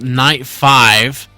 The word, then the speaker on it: Night V: Hey everybody, this patch adds a new rideable EUC, the Night V, pronounced Night 5, a pair of night